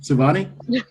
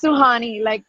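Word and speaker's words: Sohani: call me Giovani did I say it correctly Shivani it's so Hani oh so Hani okay yeah you got it okay so honey thank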